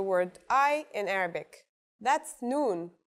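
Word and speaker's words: نون: I in Arabic that's noon the noon is pronounced just like the English n pretty easy right it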